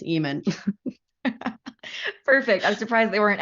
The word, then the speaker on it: Ehman: as we see them someone asked how to pronounce my last name it's Eman perfect I'm surprised they